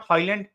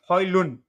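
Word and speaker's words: Højlund: section go after it it's Holland okay it's not highland highland it's Holly loon you know so Rasmus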